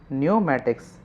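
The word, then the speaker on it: pneumatics: क्या जाता है न्यूमेटिक्स यहां पे पी साइलेंट है इसको हम लोग क्या बोलते हैं न्यूमेटिक्स न्यूमेटिक्स अब इसका वजह क्या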